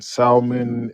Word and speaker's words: salmon: I got salmon and asparagus. Why you From where? pronounce the L? I was gonna say, I was like, what did I just hear? Why you pronounce the L?